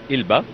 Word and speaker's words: Elba: We say it Elba because the locals say it Elba. They don't have ain in Arabic. Okay. Okay. So that the right one is Elba.